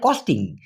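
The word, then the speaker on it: kos: খর্চা এটাকে মালয়েশিয়ান ভাষায় সাধারণত বলা হয় কস সি ও এস না হয়ে কে ও এস কারণ ওরা কে ক এর মত উচ্চারণ করে কস যেমন খাওয়া খরচ কস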